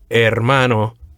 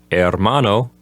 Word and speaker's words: hermano: we have the word hermano of course the H at the beginning is silent so number one will simply say brother in number two we have the same word hermano but this time it's